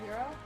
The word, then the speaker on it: Hiro: Oh, the fact that Honey pronounces Japanese words with an actual Japanese accent, with no American accent at all. Because she always says Hiro instead of Hiro.